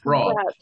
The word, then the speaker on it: brought: Todos los verbos, todas las palabras que terminan en U-G-H-T van a pronunciarse ot.